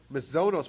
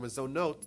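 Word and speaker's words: מזונות: Mazonos, which is number 3, or Mazonot, depends how you pronounce it.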